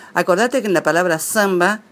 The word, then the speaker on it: samba: en la palabra zamba la primera a tiene que ser nasal porque está dentro de una sílaba y seguida en la misma sílaba por una m o n es el mismo caso de compra Santa campo lji yo no digoo